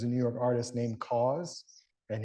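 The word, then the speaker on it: KAWS: New York artist named cause and his name is pronounced like cause so support a local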